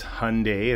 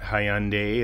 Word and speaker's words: Hyundai: statement a while back uh stating the proper pronunciation of it is Hyundai it's not Hyundai it's not Hyundai so yeah just wanted to throw that in